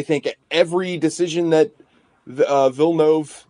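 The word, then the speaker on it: Villeneuve: every decision that uh vilnov that's apparently god's showed me an interview with him and that's how you say his name denny vilnov i think every decision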